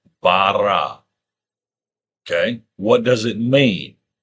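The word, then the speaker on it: ברא: How do you say it? You say barra.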